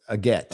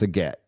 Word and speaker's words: agate: Super chats oh okay so it's a get okay a get so that's what they found even though it's spelled a gate it's a get yellow again yeah is